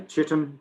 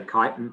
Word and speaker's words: chitin: Some people say chitin, but I say chitin. I think that is the preferred pronunciation.